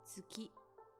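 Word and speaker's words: 月: You can read it as tsuki.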